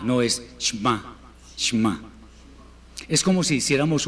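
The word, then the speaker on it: שמע: como un salto entonces no es shema sino shma una e cortísima con la práctica lo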